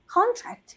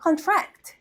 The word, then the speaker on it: contract: 근데요이 정말 힘든게 단어가 요거는 어떻게 읽냐 거는 contract 이렇게 읽어요 근데 이거는 contract 이렇게 있는 거예요 그 발음의 그 억양이 액센트가 어디로 가냐 따라서 의미가 완전 달라지는 부분들입니다 자 그럼 요거는 어떨까요